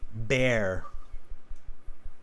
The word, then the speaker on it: bear: And then with the animal, it's bear.